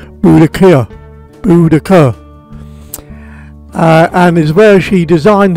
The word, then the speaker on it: Boudicca: Thetford was the home to the red-headed warrior Queen Boudicea, or correctly pronounced Boudicca, and is where she designed her battle plan to overthrow the Roman Empire, killing 70,000 in the process.